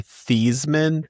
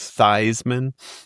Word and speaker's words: Theismann: His last name is actually Theismann, but he changed the pronunciation of his own name when he was in college to make it rhyme with the Heisman Trophy. So he said hilarious. He was Theismann.